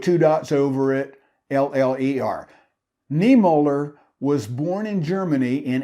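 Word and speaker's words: Niemöller: about pastor martin niemer i'm not sure i'm pronouncing it correctly n-i-e-m-o with two dots over it l-l-e-r niemoller was born in germany in 1892 and he became a lutheran pastor in 1920.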